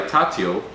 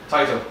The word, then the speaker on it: Taito: Fun fact, the first racing game was called Speed Race and was released by Tatio, did I pronounce it right? Taito.